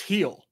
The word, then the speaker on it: Gil: I just found out it's pronounced heel for Luis. Luis heel. Really? Yeah, because it's, you know, soft G, and, you know, it's the E for the I.